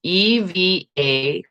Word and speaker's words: Evangelia: So it's Evagelia.